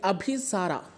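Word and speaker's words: অভিসার: bird है जिसका नाम जिसे अगर हम बंगाली में प्रोनाउंस करें तो होगा अभिसार ओके अभिसार का मतलब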